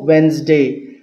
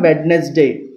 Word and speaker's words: Wednesday: July కాదు July 24 వెన్స్డే ఇట్ ఈజ్ వెన్స్డే ఇట్స్ నాట్ వెడ్నెస్డే Wednesday and అనకూడదు Wednesday. D silent letter.